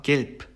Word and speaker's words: gelb: 그 다음에 이제 뒤에 나온 단어 gelb 같은 경우에는 be가 단어의 맨 마지막에 오면서 프 발음으로 변했죠. 그래서 이거는 뜻은 이제 노란색이라는 뜻의 형용사죠.